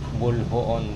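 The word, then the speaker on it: Boljoon: So guys ah nandito na tayo sa ano bayan ng Bolhoon, Cebu. Basa ko kasi dito pero nung kausap ko yung ano dito bulboon daw ang pronounce dito.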